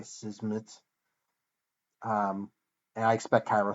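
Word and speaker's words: Szmyt: pronounce that name right his last name is s z m y t so there's a lot of consonants in a row uh I was not sure how to pronounce that but I think it's Andre sizmit um and I expect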